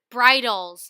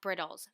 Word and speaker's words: bridles: could not comprehend that this word is pronounced bridles not brittles bridles by Scott Cheshire Cheshire